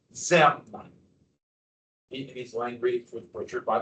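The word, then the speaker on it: Diệm: This is pronounced ZM.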